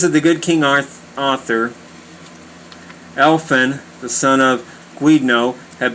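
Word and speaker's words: Elphin: one of the posts upon opening the bag elfin elfin that's e-l-p-h-i-n elfin discovered within it a living infant a wondrous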